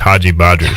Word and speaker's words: Haji Badri: That one is Josie Haji Badri, because I was told originally that it was something totally different, and I pronounced it wrong. And he was like, "Hey man, it's just Haji Badri."